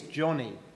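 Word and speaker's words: Joni: tell you about someone else her name is Johnny you might think that's a boy's name because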